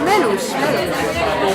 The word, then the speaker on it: Melush: So everyone, but actually when they spell it, they don't put the S, because S in Hungarian is So, but I put that, otherwise it would say Melush for most people.